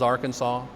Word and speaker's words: Arkansas: the way it's spelled are kansas versus arkansas connecticut instead of connecticut